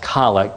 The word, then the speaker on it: collect: is called the collect it's spelled collect but it's pronounced colic to distinguish it from the other meaning of the word collect uh then and collect